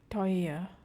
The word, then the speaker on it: teuer: Teuer, teuer. It sounds like oi, oi.